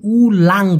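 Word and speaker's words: ulang: আমি কিন্তু উলাং বলেছি। লার বলি নাই। যদি বলতেন উলার উলার মানে সাপ। কিন্তু এটা হল উলাং।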